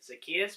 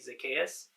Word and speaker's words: Zacchaeus: say this for me i've had a natural tendency to say zacchaeus but it's really zacchaeus um but yeah you